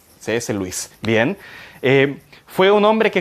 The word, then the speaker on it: Lewis: hay un escritor de cs lewis se escribe pero se pronuncia cs louis bien fue un hombre